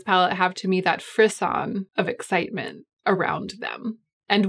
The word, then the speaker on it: frisson: they really have that frisson frison frisian frisson prison they have that frisson frison frison prison prison frison i think frison is probably the english pronunciation free sun and frison may